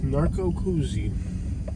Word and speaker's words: Narcoossee: like a huge development narco koozie not cozy how's it pronounced i